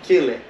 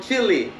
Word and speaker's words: Chile: way from chile and that's the right way to say it everybody now you know because usually people will say oh you are from chile and we know that it's not the same thing right our country is